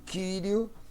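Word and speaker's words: Κυρίου: Então, por que o primeiro, o pastor, o senhor pronuncia como I, e o segundo, o senhor não pronuncia o Omicron e pronuncia o Y como U? Porque é um ditongo, não é?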